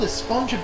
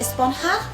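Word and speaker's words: Esponja: that's what this whole esponjo grande thing has been about huh actually it's pronounced espanha with an h sound at the end really but we've all been saying a sponge up yes i know it's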